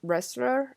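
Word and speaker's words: Wearstler: And in a way too, like when you said that, it reminds me of Kelly Ressler. Is that how you pronounce her Yes.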